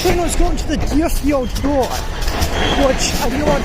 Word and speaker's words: Greenfield: I know I've been mispronouncing it. I've been calling it Greenfield. It's actually Greenfield, but now I need to race this train to the other side of the yard.